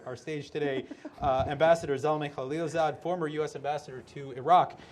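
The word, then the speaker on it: Zalmay Khalilzad: stage today uh ambassador zalme khalilzad former u.s ambassador to iraq afghanistan and the united uh nations and now president and ceo of griffin partners is that the proper pronunciation yes it is okay excellent yes well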